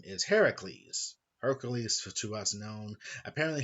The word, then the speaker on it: Heracles: Apparently, I could have been calling him Hercules due to Hercules' legend with Hercules, and apparently it's pronounced Heracles, not Hercules.